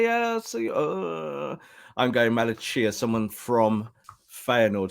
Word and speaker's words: Malacia: to him rob i'm going i'm going to pronunciation i'm going malachia it's the chia bit that's everyone's going is it sia say yes i'm going malachia someone from feyenoord said that's the correct pronunciation